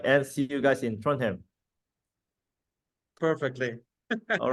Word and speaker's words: Trondheim: You can divide it in two. Trond, Uh-huh. Uh-huh. you know Trond, Trond? and Heim, Trondheim. Yeah, Trondheim.